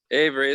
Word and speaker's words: Avery: Avery, it's like the sticker. There's a sticker company.